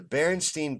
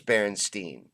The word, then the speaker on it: Berenstain: all Mandela effects is the Berenstein bears the berenstain bears they say are the berenstain bears wait